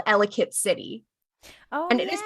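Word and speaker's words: Ellicott City: the United States there is a place called elit City oh and it is pronounced elit so seeing it pronounced elot I'm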